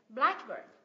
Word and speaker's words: blackbird: danh từ ghép đấy blackbird blackbird mình nhấn vào âm tiết thứ nhất blackbird Ok tiếp này green